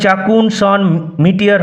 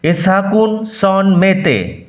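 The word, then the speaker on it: à chacun son métier: এরপর একটি ফরাসি বাক্যাংশ রয়েছে, এ সাকুন সন মেতে। উচ্চারণ, আই রিপিট, এ সাকুন সন মেতে। এর অর্থ প্রত্যেকের নিজস্ব কাজ বা পেশা রয়েছে। উচ্চারণ চাকুন সন মিটিয়ার হবে না, এ সাকুন সন মেতে, যার অর্থ প্রত্যেকের নিজস্ব কাজ বা পেশা রয়েছে।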